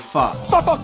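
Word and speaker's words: phở: I'm going to make Vietnamese pho. I'm just kidding. It's pronounced pho.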